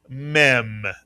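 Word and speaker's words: מם: Mitsuyan M sound the name of the letter mem Mitsuyan and we've also shown you that the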